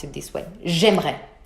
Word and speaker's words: j'aimerais: J'aimerais. We completely eat the E in the middle.